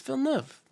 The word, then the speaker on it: Villeneuve: They go Denis Villeneuve. Villeneuve. It's Villeneuve. Come on, it's French. Villeneuve.